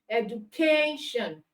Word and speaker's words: education: Okay, now because these words are three syllable words and they end with tion, and ic, it means that the syllable before the suffix are stressed. So we have education, that means k is stressed.